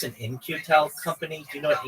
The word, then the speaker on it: In-Q-Tel: In-Q-Tel companies. Just one moment, and I'll give you a breakdown. Like INCU. No. It's spelled very interestingly. It's IN-Q-Tel.